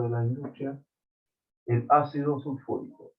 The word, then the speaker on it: sulfúrico: Y más el ácido, este es el ácido más, este es el producto de la industria, el ácido sulfúrico. Ácido sulfúrico, por acento en la U.